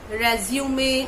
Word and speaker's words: resume: Now our next word is R-E-S-U-M-E. Very crucial word because many people are not able to pronounce it correctly. Means people are doubtful how to pronounce it, whether to pronounce it as resume or resume or something like that.